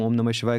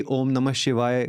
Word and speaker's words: ओम नमः शिवाय: साथ में हमारे एक्टिवेट होती हैं जब हम ओम नमः शिवाय करते हैं। तो क्यों ना हम आज ये पॉडकास्ट रिकॉर्ड कर रहे हैं तो लोगों तक ये भी पहुंचाएं कि ओम नमः शिवाय का उच्चारण, सही उच्चारण क्या है।